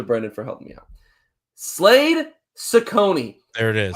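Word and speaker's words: Slade Cecconi: But I also told you I was going to make sure I had the right pronunciation today. Kudos to Brenden for helping me out. Slade Ciccone.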